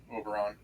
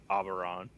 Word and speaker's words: Auberon: towards um her boss overon overon okay or as we said it in the beginning auberon and say that I I said earlier Pat that I was pronouncing the a too hard yeah I didn't